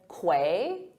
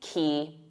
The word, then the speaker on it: quay: When I first saw it, I said quay, but it isn't. There's no qu sound in it. It's simply key, like a key to your house.